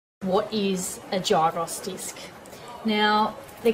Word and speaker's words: gyro: They're either called a gyros disc, a gyros disc, or actually the correct pronunciation is called a gyro disc.